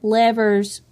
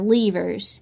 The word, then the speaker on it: levers: Archimedes, who lived between 287 and 212 BC, wrote about mechanics and levers or levers. You can pronounce that word either way.